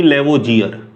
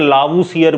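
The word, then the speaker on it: Lavoisier: हिंदी की किताबों में इसका नाम आपको आंतोइन लावूसियर भी मिल जाएगा, ठीक है ना। तो घबराना मत, इंग्लिश में हिंदी में प्रोनाउंसिएशन में थोड़ी बहुत गड़बड़ी हो सकती है, ठीक है।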